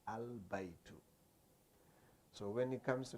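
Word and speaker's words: البيت: But now this they call al-qamariyya, al-qamariyya, meaning you pronounce the al itself. You say al-baytu.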